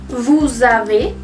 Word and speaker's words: vous avez: En ese caso, la S sí se pronuncia y se junta con la A de la siguiente palabra. Nous avons. Vous avez, pasa lo mismo.